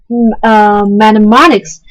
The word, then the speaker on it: mnemonics: Mnemonics, the initial M is silent, are clues or any